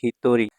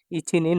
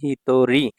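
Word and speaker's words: 一人: আবার যখন এটা একের সাথে থাকবে ইচির সাথে তখন এটা হয়ে যাবে হিতরি। এখানে স্টার চিহ্ন দিয়ে দিয়েছি। মানে এটা একটু আলাদা উচ্চারণ হয়। ঠিক আছে? ইছিনিন বলা যাবে না বা ইছিজিন বলা যাবে না বা ইছিহিত বলা যাবে না।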